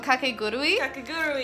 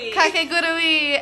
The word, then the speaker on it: Kakegurui: We've decided on Kakegurui. Kakegurui.